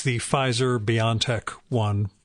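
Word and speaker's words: BioNTech: um it's the pfizer beyond tech one it's pronounced beyond tech by the way at least according to the the ceo um and according to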